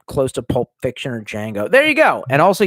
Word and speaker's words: Django: to Pulp Fiction or Django. There you go. And also, you spelled Django wrong. Motherfucker, how do you not know? It's in the film. Can you spell your name? DJANGO. The D is silent.